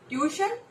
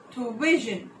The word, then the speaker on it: tuition: Tuition? No, that is incorrect. It's like tuition. Something like a vision in the end.